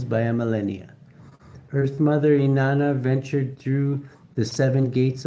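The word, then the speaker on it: Inanna: Inana, pronounced Inana, was worshiped by the ancient Samrians for over 3,000 years.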